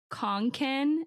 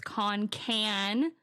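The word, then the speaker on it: Concan: Park episode that I did recently and I pronounced the town conen and apparently it's Conan okay like like a can of soup the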